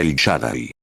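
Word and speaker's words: El Shaddai: Él siendo Dios, él es en realidad el nombre era el Shadai. Puede que no pronuncie esa palabra correctamente.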